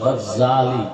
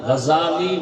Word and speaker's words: গজালি: বলে গজ্জালি না, গজালি বিশুদ্ধ উচ্চারণ, গজ্জালি না।